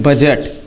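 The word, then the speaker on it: budget: बजट। अब बजट मतलब लेखाजोखा। समझ में आया? यानी डी के बाद मतलब डी के बाद यदि जी आता है तो डी क्या माना माना जाता है?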